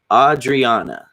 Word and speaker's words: Audrianna: you so much says you murdered my name last time it's pronounced Audrianna okay my bad I'll